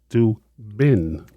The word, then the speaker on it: Chidubem: It's Chidubem. Am I close? Very close. You're much better than prior times. Thank you. Chidubem, B-E-M. You have to pronounce that B. Oh. Oh, Chidubem.